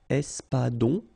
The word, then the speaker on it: espadon: L sound, sol, l'espadon, O-N in your nose, nasal, on, espadon, la truite, same thing